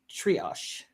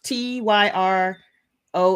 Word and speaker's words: Tyrosh: Uh I'm probably saying it wrong. I I see this. I know this. We know this. T Y R O S H. We know this. Tyro. There you go.